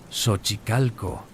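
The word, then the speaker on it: Xochicalco: en Shochicalco, pronunciado Sochicalco, un sitio que muestra fuerte influencia maya, aunque técnicamente está fuera del área maya central, existe una cueva cenita espectacular.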